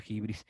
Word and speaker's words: hybris: mano al ají brice eso se pronuncia jibril tiene un miedo tremendo al